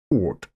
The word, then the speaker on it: Oort: Ort. Sounds like Ort in German, which just means place. You going to that place, gehst du zu diesem Ort, yeah.